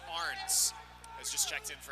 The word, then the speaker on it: Ahrens: Justin Arns, by the way, his last name is spelled A-H-R-E-N-S, but it's pronounced Arns.